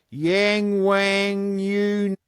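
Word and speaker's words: Yangwang: But staying on topic of performance with a bit of bit of China, we'll talk about the uh new record, the Yang Wang.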